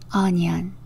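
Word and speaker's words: onion: 편안하게 배워질 수 있습니다 양파라는 단어는요 영어로 o n ion 이렇게 적어요 5는 어 소리가 나고요 애는 니은 소리 아이는이 소리 Oh a 소리에는 니은 소리 이렇게나요 그래서 양파는 영어로 어니언이라고 발음합니다 어니언 이해가 되시겠죠 조금 더 빨리 언연 양파는 어니언 이렇게 발음됩니다 그리고 기름 정말 많이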